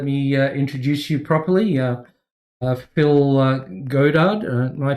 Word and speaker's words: Goddard: Phil Goddard. Am I pronouncing it correctly? Goddard generally, but it doesn't bother Yep.